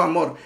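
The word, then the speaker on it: Hamor: Y hoy vamos a ver cómo amor y digo yo amor eh porque se escribe con h, pero realmente la pronunciación es amor.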